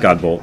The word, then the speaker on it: Godbolt: So your last name pronounces As you hear it, yep, just Godbolt.